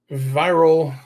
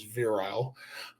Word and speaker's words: Viral: Viral, because I refuse to pronounce him like he's virile, suffers from the X-Men Morlocks dichotomy.